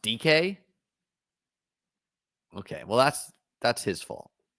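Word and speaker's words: Dike: How is it pronounced? DK?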